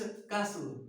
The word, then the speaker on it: castle: ठीक, next CASTLE, कास्टल नहीं, इट्स कासल। कासल, कास्टल नहीं पढ़ेंगे, टी को साइलेंट करेंगे, कासल है। क्या है? कासल है, टी साइलेंट।